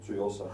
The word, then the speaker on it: Tsuyosa: The Citizen, and I never speak about Citizen, but the Citizen, how the f do I pronounce this watch, Marco? Tsuyosa. Tsuyosa, because I'm not Japanese, and he, for some reason, is.